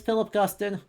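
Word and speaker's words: Philip Guston: and by the way yes his name is Philip Gustin if you pronounce it like he's French you're incorrect right The Artisan residence for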